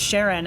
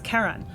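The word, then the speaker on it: Charon: like I guess uh the community pronounces it Sharon after Charlene but it's officially named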